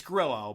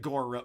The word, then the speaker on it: Grillo: It's Grillo, but he pronounces it Gorillo.